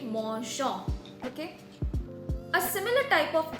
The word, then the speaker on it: mangeons: Okay, so if we won't add this EONS and we just add ONS, it would sound like nous mangeons. Okay, so to make the pronunciation smoother, we add EONS to make it mangeons.